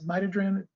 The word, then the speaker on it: midodrine: Some of them might also be comfortable using a medication called midodrine. Some people will pronounce it mitodrine, either way.